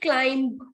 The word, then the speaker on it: climb: We climb the ladder, right? So it is not climb. Climb, nahi. It's climb. Whatever is ending with B here, B is not having any sound in the pronunciation.